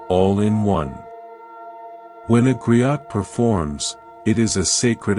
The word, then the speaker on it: griot: To explore this with wisdom, we travel to West Africa, to the ancient tradition of the griot, pronounced griot.